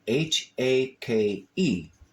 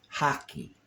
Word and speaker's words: hake: It sounds Spanish. It sounds kind of Latin, Italiano. I don't know. But there's also people that pronounce it hockey, like a hockey stick, like a hockey puck, like a hockey game.